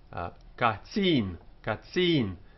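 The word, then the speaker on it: קצין: Katzin. And this mark here, the etnach, shows that the syllable tzin is to be accented.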